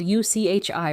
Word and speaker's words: uchi: The first word is uchi. Spelled u c h i, pronounced uchi.